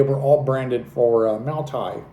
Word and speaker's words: Maotai: Um and they were all branded for uh Maotai, which is I believe is how you pronounce it, Maotai.